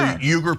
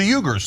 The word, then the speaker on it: Uyghur: I interviewed uh one of the leaders of the Jugger people about the genocide happening in China. To the Ugers, to the Weaguers. And there's different pronunciation.